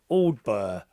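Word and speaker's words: Aldbury: Aldbur is how it's said.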